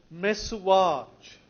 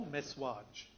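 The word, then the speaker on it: messuage: that he gives is the word mess watch mes sua GE or mess watch two syllables it's a legal term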